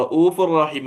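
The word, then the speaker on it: رَءُوفٌ رَحِيمٌ: അതേ സമയത്ത് റഊഫുർ റഹീം എന്ന് നമുക്ക് മൂക്കൊന്ന് പൊത്തി പിടിച്ച് ചോദ്യം നോക്കിയേ.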